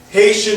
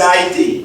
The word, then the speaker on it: Haiti: So now that's why we would say Haiti. And you go to any one of the native Haitian speaking people, they say Haiti. They don't say Haiti.